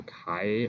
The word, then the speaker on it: chi: slides for the formula it's chi-square the chi like that breaks like when you write it it's a little bit like an X and uppercase ax that's pronounced by like Chi Squared and you have a